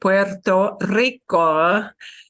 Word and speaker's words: Puerto Rico: That strong trill, Puerto Rico, to replicate the rico, the stronger trill, we make it a double R when we slam those words together.